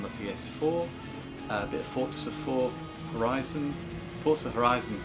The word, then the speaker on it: Forza: PS4, a bit of Forza Horizon 4. I'm trying to say Forza as opposed to Forza, as I have worked that is how you say it.